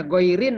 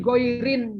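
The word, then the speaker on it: غيرِ: Jangan dibaca begini. Fi ghoirin jama'atin. Nah, salah bacanya. Fi ghoiri Jamaatin. jama'atin. Nah, jama'atin dibaca tanwin karena nggak ada L, karena tidak idofah.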